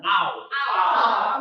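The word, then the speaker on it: νῦν: e ini a Misnya now now Bukan no tapi now now now i n terus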